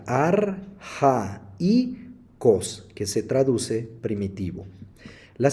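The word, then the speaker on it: ἀρχαῖος: palabra que aparece acá si nosotros tuviéramos que pronunciar este diptongo junto diríamos ar Hi cost sin embargo como la diéresis aparecen la segunda vocal del diptongo se pronuncia arja y Cos que se traduce primitivo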